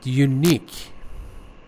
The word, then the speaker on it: unique: And unique, second syllable.